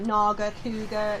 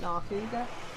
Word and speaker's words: Nargacuga: Oh, Nargacuga it's supposed to be. I keep calling it Narkuga.